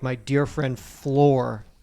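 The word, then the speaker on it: Fleur: Got to build things up, not tear them down like my dear friend Floor. Is that how you pronounce that? F-L-E-U-R? Floor? Fleu.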